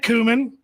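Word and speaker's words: Comyn: sorry Scottish Noble John kumman also known as red kumman think of the spice kumman that's how you pronounce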